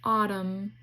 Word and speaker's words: autumn: The N is silent, like in autumn.